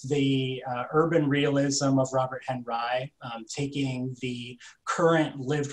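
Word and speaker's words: Henri: figure who ed has introduced us to robert henry and for those in the know that is how you pronounce that surname that looks like it should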